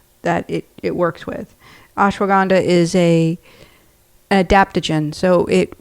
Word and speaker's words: ashwagandha: A super herb, which is called ashwagandha. Ashwagandha, it's spelled a s h w a g a n d h a.